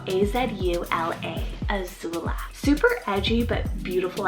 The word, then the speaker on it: Azula: a-z-u-l but i also have for a girl azula spell a-z-u-l-a azula super edgy but beautiful at the same